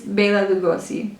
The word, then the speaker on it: Bela Lugosi: yeah i said it right okay basically it's bela lugosi bailey lugosi who everybody should know if you don't know